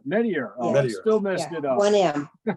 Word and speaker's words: Meteyer: So great, Meteyer. Meteyer. Meteyer.